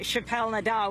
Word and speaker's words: Chappelle-Nadal: Brown was killed and protests erupted uh Senator Chappelle Nadal we welcome you to democracy now thank you